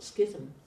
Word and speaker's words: schism: And so Devadatta was actually the first one who actually created the how do you pronounce this word? Schism.